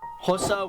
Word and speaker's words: Xhosa: Is Xhosa with a click. Xhosa? That's how you pronounce an X.